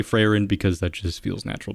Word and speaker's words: Frieren: also before you say anything I know it's pronounced frein but I say fren because that just feels natural to me now